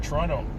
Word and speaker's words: Toronto: was born there in toronto i think i pronounced it correctly as well without the t it's the middle the